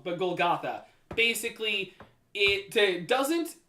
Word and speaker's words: Golgotha: It would be Golgotha. And or Golgotha, I pronounced it wrong, but Golgotha.